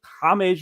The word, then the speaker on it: James: But no, it turns out that is how it's pronounced, James. It's not James Rodriguez, but he was at Monaco at this point, I believe.